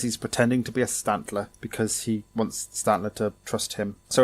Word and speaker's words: Stantler: when I was younger one of the Pokemon I used to pronounce wrong he was Stantler I used to call it Stanley because I didn't see the other T it's a deer it's